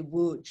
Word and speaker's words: Łódź: I say Lodz, some people say Łódź. I'm not sure how Tali would pronounce it, but my parents said Lodz, and so I'm going with that, because they're the Holocaust survivors.